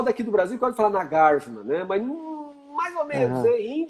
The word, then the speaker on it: Nagarjuna: Não, pode pronunciar Nagarjuna. Se você chegar nos tibetanos, lá em Varanasi, eles falam para você Nagarjuna e está correto, porque estão dentro da Universidade de Sânscrito, entende?